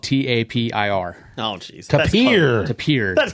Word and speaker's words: Tapir: But it's spelled T-A-P-I-R.